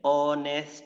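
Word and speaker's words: honest: উচ্চারণ করি কি আছে অনেস্ট ম্যান অনেস্ট ম্যান আমার সাথে উচ্চারণ করো অনেস্ট ম্যান এইচ টা কিন্তু এখানে সাইলেন্ট অ থেকে উচ্চারণ হচ্ছে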